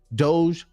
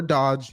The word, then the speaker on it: DOGE: Department of government offici Doge or Dodge you choose how you want to pronounce it of course and yes